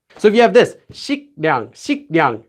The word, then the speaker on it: 식량: And again, this letter will become pronounced like this. So if you have this, 식량, 식량. How could you say 식량, 식량?